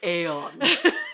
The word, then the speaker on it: Aeon: No, it's Aeon.